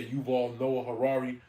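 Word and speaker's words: Yuval Noah Harari: whatever how you say his name he was Noah Harari yeah you've all Noah Harrari uh he's uh making a AI Bible right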